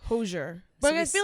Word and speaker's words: Hozier: We saw how do you say Hozier? I've been saying Hozier. I say Hozier. People are saying Hozier as well. I'm pretty sure it's Hozier. Probably that.